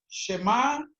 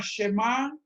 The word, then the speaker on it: Shema: Shema se escribe S-H-E-M-A. Y esa palabra Shema, también algunos judíos la pronuncian como Shema.